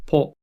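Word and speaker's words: ぽ: Ho with a handakuten is pronounced po.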